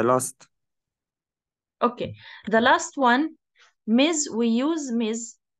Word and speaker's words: Ms: which is Miz and we pronounce it as Miz okay example Mizan doesn't